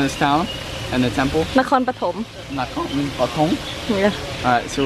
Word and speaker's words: Nakhon Pathom: Nakhon Pathom.